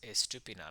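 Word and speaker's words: Estupiñán: mad this week uh Purvis estupidan I think is how you say his name that is correct yeah well Purvis getting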